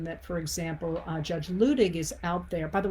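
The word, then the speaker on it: Luttig: for example uh judge ludig is out there by the way it's spelled letting pronounced looting the reason that it's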